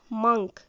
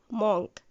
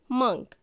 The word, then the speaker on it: monk: This is monk, not monk. The correct pronunciation is monk.